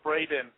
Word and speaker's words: Braden: a lot of times people get my name wrong and they call me Brandon it's actually Braden oh I'm sorry about